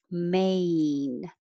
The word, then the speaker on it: main: for each of those main remember a your tongue has to rise a main nine your tongue also